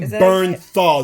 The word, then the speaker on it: Bernthal: pronounce his last john bernthal it looks like yeah that would be bernthal that's b-e-r-n t-h-a-l i went to